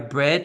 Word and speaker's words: bred: Entonces el pasado se pronuncia como bread, igual que pan, bread. ¿Cómo podrías usar esta palabra? Di conmigo. Horses and cows are bred in similar ways.